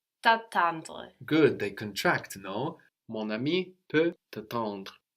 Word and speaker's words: mon ami: very connected so again we liaised there we have more more with a silent n but Mon Ami my friend can wait for